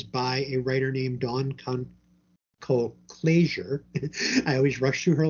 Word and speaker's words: Colclasure: And it is by a writer named Dawn Colclasure. I always rush through her last name and I mispronounce it. Colclasure.